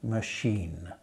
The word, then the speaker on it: machine: a look at washing machine washing you see is spelled sh wash and machine is spelled ch so the sh sound can and the ch sound both are pronounced sh washing machine try and read the